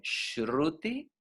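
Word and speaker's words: श्रुति: Escuchen la pronunciación, Shruti y Smriti.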